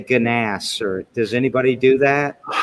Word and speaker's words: Gnass: shape but uh yeah it's ganas how is that how you pronounce it yeah we all yep my dad's family goes by ganas so yeah so you're the second person in two days i've been pronouncing your name wrong for 20 years i